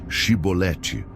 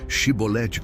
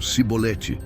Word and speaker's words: chibolete: davam um teste simples diz chibolete a pronúncia denunciava quem eram os verdadeiros efraimitas eles não conseguiam dizer chibolete corretamente pronunciavam sibolete e essa falha lhes